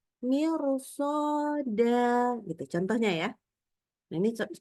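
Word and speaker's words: مرصادا: Dibacanya bukan mir, tapi mir. Kenapa? Karena dilanjutkan dengan huruf sod. Sodnya fathah. Jadi bacanya mirsoda.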